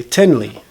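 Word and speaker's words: תן לי: And if I'm talking to a man, I would say tenli.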